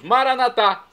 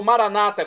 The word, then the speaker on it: Maranata: aramaico dialeto de Jesus maranat como dizemos nós católicos ou Maranata como dizem nossos irmãos separados os evangélicos ou protestantes não importa a pronúncia significado é o mesmo